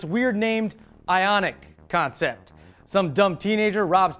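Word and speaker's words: Ioniq: me jog your memory it's called the ionic and it's spelled i period O N IQ and I wish I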